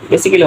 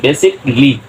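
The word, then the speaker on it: basically: ধরনের শব্দ যতগুলো আছে এ সবসময় অলওয়েজ সাইলেন্ট রাখতে হবে হবে ওকে তাহলে আবার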